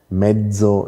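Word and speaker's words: mezzo: ist nämlich etymologisch bedingt Piazza kommt von lanisch Platia Platia da sehen wir ein T und metzo komm von L medzo auch falsch ausgesprochen kommt von lateinisch Mediu Mediu und da sehen sie ein D und das D natürlich stimmhaft deshalb haben wir medo stimmhaft und Piazza stimmlos hat sich also tatsächlich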